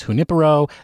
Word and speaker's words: Junipero: And since they said it's Spanish, I'm going to say that the pronunciation of the gin is Junipero.